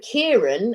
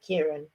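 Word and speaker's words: Ciaran: used to work with kieran and it was spelt similar was c-i-r-a-n i think kieran um and uh but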